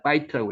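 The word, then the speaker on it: בית: 여기 이제 경강점이 하나 찍혔기 때문에 바이트라고 읽습니다.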